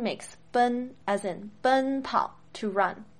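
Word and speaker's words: bēn: Now, in Pinyin, ben is spelled B-E-N, but you don't say Ben like the English name Benjamin. No. It's ben, not Ben. Don't let your English brain trick you into saying it wrong.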